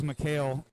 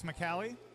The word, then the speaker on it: McCallie: He said it's McCallie. His last name is also McCallie.